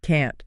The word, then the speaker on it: can't: But listen to the sound. This is a really important tip for pronunciation. Okay, I'm listening. The positive word can is usually very quick and soft. I can swim. Can. I can swim. Yeah, it's fast. But the negative can't needs to be very clear. So the T sound at the end has to be sharp.